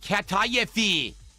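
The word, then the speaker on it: kataifi: Like what a 10year-old would wear, It's pronounced katayafi.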